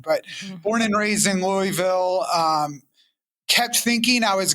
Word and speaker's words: Louisville: born and raised in Louisville Kentucky which yeah it's kind of like a one syllable like one maybe two syllable oh you just kind of like you have marbles in your mouth but when I travel